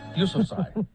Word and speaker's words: Yousafzai: Yousafzai. She's corrected me on it many times. But you got it now, though. But I think I have it. Malala Yousafzai.